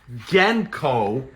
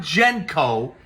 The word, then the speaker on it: Genco: and by the way I am pronouncing the name genko correctly it is not genko it is genko as in the gensburg brothers that founded the company in the 1930s but there you have